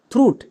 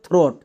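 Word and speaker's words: throat: তাহলে বসিয়ে দাও এর জন্য থ্রু এবং টি। টিটি এর জন্য ট উচ্চারণটা হচ্ছে থ্রুট। এটা আমাদের একদমই ভুল। কারণ এটাও হচ্ছে আমাদের সাইটওয়ার্ডস। উচ্চারণ হবে থ্রট। নট থ্রুট।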